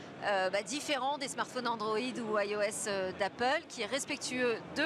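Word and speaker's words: /e/OS: Hein, il y a aussi iOS, ça s'écrit EOS, et là c'est un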